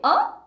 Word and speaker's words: hein: Hein?